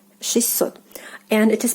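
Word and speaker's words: шестьсот: So basically the t sound is like omitted here, and you like pronounce it like with two s.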